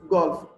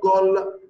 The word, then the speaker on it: golf: Here, golf is different. You will say F, the last letter here. Okay, you will say it. It's exception. Golf, not goal, golf.